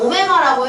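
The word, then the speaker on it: ω: 왠지 모르겠는데 이름이 오메가입니다 w의 그리스어가 맞아요 그래서 저거는 오메가라고 읽는 건데 저거는 그냥 약간 알파벳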